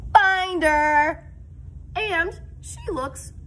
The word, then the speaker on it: Binder: But I pronounce my name and Binder, Mrs. Binder, not Bender. A lot of people say Mrs. Bender and I have to go, oh, nope, it's Binder.